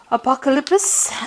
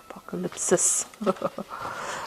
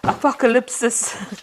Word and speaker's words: Apocalypsis: cards from the tarot apocalyps and um apocalypsis okay apocalypsis tarot um and let's see what's going on I have Mis been mispronouncing that word the whole day today okay let's